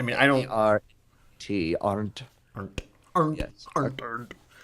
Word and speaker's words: Arndt: we have a screenwriter for Episode 7, Michael Arndt, I think is how you would pronounce it. I mean, I don't A-R-T, aren't. Arndt, Arndt, Yes.